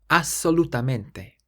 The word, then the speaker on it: assolutamente: So in English it's ABS. In Italian it's ASS. And when you see a double letter in Italian like this, you do have to emphasize it a little bit more. So it's assolutamente.